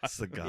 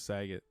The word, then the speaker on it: Sagat: Sagat. Yeah. Is that how you say it? Sagat. Yeah. I thought it was Saget.